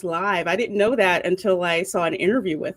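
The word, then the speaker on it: Liev: No, it's pronounced live.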